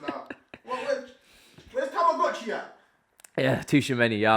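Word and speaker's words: Tchouaméni: Yeah, Tushimeni. Yeah, I've learned how to say his name properly, not Tamagotchi. Again, he's not plan A.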